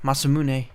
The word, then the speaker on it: Masamune: in there masamune I mean that's how it's pronounced masamune and that's um the sword that frog has